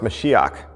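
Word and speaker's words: משיח: Christ means anointed one in Hebrew it's pronounced mashiach and in Aramaic mashika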